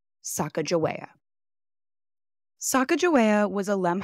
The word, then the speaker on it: Sacajawea: passed down through generations today I'm opting to say her name as some of her contemporary shishoni family members pronounce it Saka Jaa Saka Jaa was a